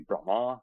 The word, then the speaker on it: Brahma: it should be pronounced there's a long a at the end with a line across the top when transliterated into english so they would be you know enunciated differently it'd be brahma the deity and brahman